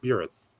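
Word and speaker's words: Buras: It's pronounced Beerus.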